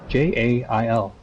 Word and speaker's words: gaol: Yeah, they spell gel in American English. Jail. They spell gowl. Gaol. If you want the word gel, you spell it properly. Gowl is the way that people say it.